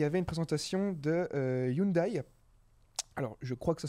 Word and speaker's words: Hyundai: que caterpillary il y avait une présentation de Hyundai alors je crois que ça se prononce comme ça j'ai toujours du mal avec avec cette marque mais c'est bien ça Hyundai qui avait leur voilà très bien merci beaucoup